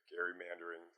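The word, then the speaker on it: gerrymandering: took his name Gary Gary mandering we often pronounce it Jerry mandering so it's it's really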